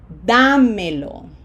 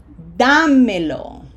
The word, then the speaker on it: Dámelo: Long vowels and emphasis on da. Dámelo. Dámelo.